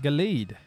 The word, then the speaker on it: Gallade: name of the pokemon again galad okay gallade gallade gallade that's how you pronounce the name lucy glade wash and take